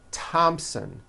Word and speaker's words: Thompson: Although these next words and names are spelled with a TH, they are pronounced as if they were spelled with a normal T, like that.